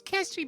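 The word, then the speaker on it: Kestri: worry um my name is uh my name's kestry by the way I'm the uh I'm the city planner can you spell that k-e-s-t-r-i I've taken notes no whoever laughed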